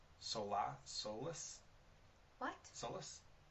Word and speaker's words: Solace: I if I'm saying the film right Sola soless what Solus s o l a c e Solace oh yeah that's probably how you say